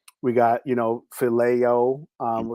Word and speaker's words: phileo: We got, phileo, what Mm-hmm. some people pronounce it filio, the love for your brother, common man.